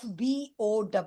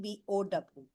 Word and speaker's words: bow: So we pronounce it differently. We bow down in front of our elders only when we have a bow in our hands.